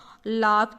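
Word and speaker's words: laugh: अब देखो OUGH लिखा हुआ हो, लेकिन आपने सुना होगा लाफ की स्पेलिंग सबसे ज़्यादा बार बोली जाती है, लाफ, लाफ, लाफ। अरे यार, फ तो लिखा हुआ ही नहीं है तो फिर लाफ क्यों बोलते हैं।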